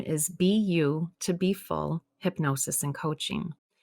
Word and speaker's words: BU2BFULL: my company name is be you to be full hypnosis and coaching it is spelled awkwardly because it's you know the letter b the letter u the number two and then full but the reason i